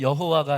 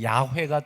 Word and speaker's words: 야훼: 원래는 여호와가 아니라 야훼가 조금 더 정확한 발음이긴 하지만 그것조차도 하나님의 이름의 정확한 발음과 뜻은 아닙니다.